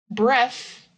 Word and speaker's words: breath: Breath the noun is not voiced.